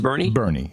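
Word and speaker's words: Boerne: Ohio Judy Schwarz and burn Texas Bernie what Bernie is it called pronounced Bernie yes yeah local pronunciation I never guess that Steve Winslow in Bristol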